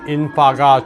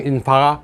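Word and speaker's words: In-fa: 태풍 인파가 중공 저장성에 상륙했습니다. 인파는 맨더린으로 불꽃, 폭죽을 의미하는 yen화의 캔토니즈 발음입니다.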